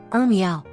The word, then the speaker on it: 鸸鹋: 特的鸟，名为儿苗，发音儿苗。